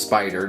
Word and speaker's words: SP//dr: years until I realized it was actually just kind of pronounced spider just with a strange spelling uh this of course